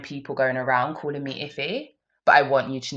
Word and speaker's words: Ife: I'm not Yoruba, so when I'm saying Ife, it's Ife. It's not Ife.